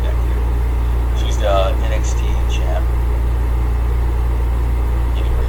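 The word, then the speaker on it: Vaquer: How do you pronounce her name? Vaker. Vaker. Vakier. That's her name. Vakier.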